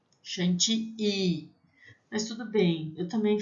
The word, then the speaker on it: chantilly: I-L-L, tem som de I, chantilly. Mas tudo bem, eu também falo, na aula eu vou falar para vocês chantilly, tá? Mas a pronúncia em francês seria crème chantilly.